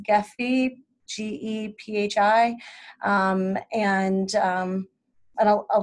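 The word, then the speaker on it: Gephi: free online software called I think it's pronounced Jeffy ge pH I and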